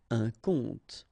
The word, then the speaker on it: compte: Un compte. And here you will have the translation. Un compte. So exactly the same pronunciation, but then of course the meaning is different.